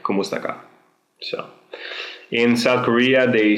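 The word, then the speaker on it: kumusta ka: you by saying kumaka there is a space between kumusta and Ka but you can say it like one fluid word like kumusta so in South Korea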